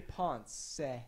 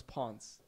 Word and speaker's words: Ponce: Because I always thought it was Ponce. Yeah, I think people just mispronounce it so much that I just let them say Ponce. So I just, instead of correcting them all the time, so it's all good. Why is it that pronunciation? That's just the Spanish pronunciation of it.